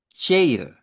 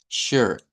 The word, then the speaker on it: shirt: La siguiente, cuidadito con decir chair, porque no se pronuncia la I. Esta palabra la vamos a decir con una E abierta y la vamos a pronunciar más bien como shirt, shirt.